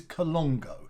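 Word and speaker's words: Colnago: a collection of these bikes and it is colongo so if you uh very very well-known high-end quite expensive quite posh uh sort of brand a bit a bit like the pinballo but this is colongo now a lot of people a lot of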